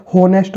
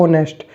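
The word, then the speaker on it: honest: और इसी तरीके से यहाँ पे जो एन ऑनेस्ट मैन है, अब यहाँ से वैसे तो होनेस्ट बोलना चाहिए लेकिन एच साइलेंट है, तो आप इसको बोलते हैं ऑनेस्ट।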